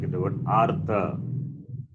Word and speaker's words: artha: Whereas here, I'm giving like in the word artha. So here, repa is pronounced first. Pronounced first means pronounced after the vowel a.